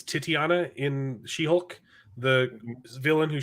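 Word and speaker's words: Titania: also plays um titiana it's not tatiana it's titiana in she-hulk the villain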